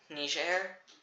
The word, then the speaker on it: Niger: And then Niger, the French way of pronouncing it.